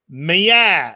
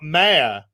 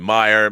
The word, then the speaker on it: Meyer: It's pronounced Meyer, not Mayor. Great show, by the way. Okay. My middle name, Meyer.